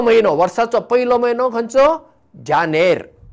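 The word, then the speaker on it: Janer: Spelling पळया, जे ए एन ई आर, जानेर, जानेवारी.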